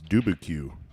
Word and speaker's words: Dubuque: How do you pronounce this? Is it Dubuque, Iowa? And you're making fun of me. It's Dubuque.